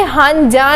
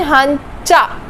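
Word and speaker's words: 한자: ये हंजा नहीं, हंचा, च की साउंड।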